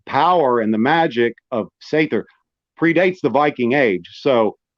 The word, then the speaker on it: seiðr: The Seiðr practices? I pronounce it as Seiðr. Seiðr. Seiðr. Seiðr. Okay, Seiðr. More like a TH, Seiðr.